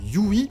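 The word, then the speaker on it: Hughie: tout particulièrement Petit Huggy, qui se prononce Yui, mais moi je vais dire Huggy à la française, comme dans Les Cafards et les Bons Tuyaux, parce que j'ai l'habitude de le lire comme ça dans la BD VF.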